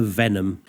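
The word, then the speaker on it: Venum: And our subject is a young lady called Lorena Venom, not spelled like that. V E N U M.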